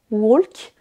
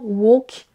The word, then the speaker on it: walk: Dans ces deux mots-là, le L ne se prononce pas, on ne dira pas walk ou talk, mais bien walk et talk.